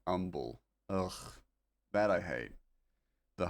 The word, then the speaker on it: Humble: Humble. City in Texas said umble.